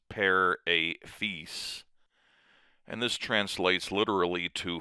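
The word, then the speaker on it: père et fils: In French, there's a phrase per a fees which looks like it's per at fills, but it's pair a fee.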